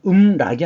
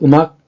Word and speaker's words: 음악: 를 전주라고 합니다 전주 그래서 이것은 음락이 아닙니다이 글자는 뮤직이란 뜻일 때는 어느 자리에 있건 악이라고 읽어야 되지 락으로 읽지 않아요 두운 법칙이 적용되지 않습니다 그래서 음악 감상 품평을 하는 겁니다